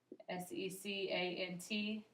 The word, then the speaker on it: secant: a special name it's called a secant line s e c a n t pronounced secant okay so that is is um kind